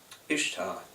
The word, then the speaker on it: Ishtar: old Babylon in Iraq Ishtar pronounced Easter but yet Ishta she